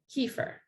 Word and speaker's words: kefir: i mispronounce kimchi and kefir which in america is known as kiefer so wherever you live